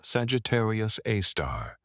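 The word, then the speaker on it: Sagittarius A*: super massive black hole named Sagittarius A, pronounced Sagittarius Aar.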